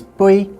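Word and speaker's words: 杯: For example, the word for cup is bui in Cantonese, but in Mandarin, they add a zi on the end, so it's beizi.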